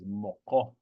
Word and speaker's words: moko: of the earlier classes, the K sound isn't the same as the English K. Moko. It's more closer to the farther back of your throat. It's a uvular. Kind of imagine putting your tongue back up to that your uvula, that dangly part in the back of your tongue that hangs down at the back of your mouth, rather. That's where you want to kind of pronounce it.